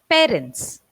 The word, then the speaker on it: parent: So it is parents. PA. We keep it short. We don't elongate it. We go parents. Parent.